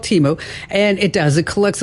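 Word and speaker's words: Temu: It's And it's it's called it's pronounced Teeu, by the way. Oh, okay. That's all right. It's called Teeu.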